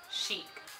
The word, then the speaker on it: Chic: Okay, my real name is, but I go by Chic. Chic. Like that outfit is chic.